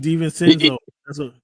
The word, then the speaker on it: DiVincenzo: Devontae DiVincenzo.